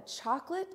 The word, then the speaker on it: chocolate: A, like plate, and the schwa sound with the it, that short I sound, like as in chocolate.